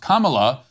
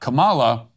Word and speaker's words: Kamala: say her name wrong it's pronounced Kamala not Kamala as a subtle form